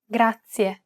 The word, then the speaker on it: grazie: This word uses the rolled R sound. Grazie. To pronounce this sound, place the tip of your tongue on the gum ridge behind your upper teeth, just like you do when you want to say the English D sound.